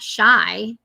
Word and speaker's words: Chi-Town: Chi-Town, if you're Chai, not shy. I think it's pronounced Shy.